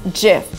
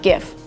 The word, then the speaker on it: GIF: his award so the right way to pronounce this word is jiff not gift salmon is the right way to pronounce the